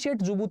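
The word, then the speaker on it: Djibouti: and towards the जुबू ये डी जे आई बी ओ यू टी डी से print D से करते हैं प्रनं जुबू करते हैं स्पेलिंग डी से स्टार्ट होती है तो यह जो यह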